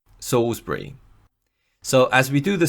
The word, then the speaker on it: Salisbury: For example, Ssbury looks like it should be pronounced Salisbury, but it's actually pronounced Ssbury. Ssbury.